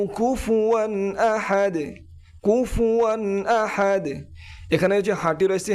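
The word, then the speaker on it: أحد: কুলহু আল্লাহু আহাদ আহাদ হাটি হলো high Houthi একটু নরম একটি বাতাস বের হবে আহাদ আহাদ আল্লাহুস সামাদ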